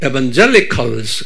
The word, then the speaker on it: evangelicals: 스 그래요 칼리 칼스 칼스 액센트가 어디 있어요 에제 있어요 한번 옆사람면 발음해 보세요 에반 이거 아니에요 그럼 못 알아요 에반젤리스 한번 소리 질러 보세요 젤리스 그래야 알아들어요 자요